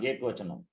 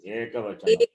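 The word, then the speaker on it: एकवचनम्: Not ekvachanam. No, ekvachanam. Eka has to be pronounced. Ekavachanam.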